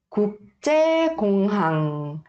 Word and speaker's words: 국제공항: Aqui, esta primeira sílaba e a terceira e a quarta sílaba tem 받침. 받침 são as consoantes que vêm abaixo. Então, ouça bem e aí repita comigo, tá? 국제공항. 국제공항.